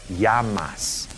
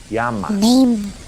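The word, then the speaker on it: llamas: The double L sounds like Y in a sentence. So this word right here, L L A M A S is pronounced Yamas. Yamas as in what's your name?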